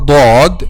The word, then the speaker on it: ض: Okay, so when you pronounce letter dod using the tip of your tongue with raise